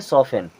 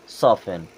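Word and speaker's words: soften: एन लगा तो यहां पे टी हो गया साइलेंट अब इसे क्या पढ़ेंगे सॉफ एन क्या पढ़ेंगे सॉफ एन वाच वाच मींस घड़ी भी होता है और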